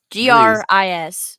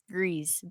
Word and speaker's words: Gris: soul is greece right i say it right greece greece greece g-r-i-s not gris greez by nomada studio um